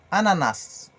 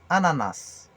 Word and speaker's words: ananas: L'ananas, Ananas. On fait que prononcer le S à la fin. Ananas.